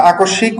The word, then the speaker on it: আকস্মিক: এরপরে হচ্ছে আমাদের কোথায় আর, হ্যাঁ, আচ্ছা, আকস্মিক, ওই সব ক্ষেত্রে একই কথা, শব্দের মাঝে স এর সাথে ম যুক্ত হলে উচ্চারণ দ্বিত্ব হয়ে যায়, ম উচ্চারিত হয় না।